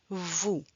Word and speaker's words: vous: Nous, vous nous, on ne prononce pas le S. We do not pronounce the S.